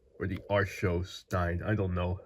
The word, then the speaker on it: Archos: The Aros 9 or the Arro Stein. I don't know how you pronounce this. Aros.